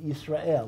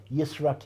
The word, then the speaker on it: Yisrael: Halacha, you can, because just as we pronounce, right, Yisrael, we don't say Yisrakel.